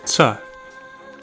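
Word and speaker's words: च: Even though we'd write it with CHA, we wouldn't actually pronounce it like cha. Imagine trying to say ta, sa, and cha all at the same time, and you sort of get tsa.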